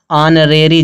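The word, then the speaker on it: honorary: इसी तरह दिया है ऑनरेरी जॉब, ऑनरेरी में भी जो यच है, इस यच साइलेंट, इसमें इसका भी उच्चारण नहीं हो रहा, इसीलिए आर्टिकल क्या लगेगा, एन लगेगा।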